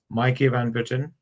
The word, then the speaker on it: Maaike Van Putten: And the name of the authors is Maaike Van Putten and Imke Van Putten. Am I pronouncing it right?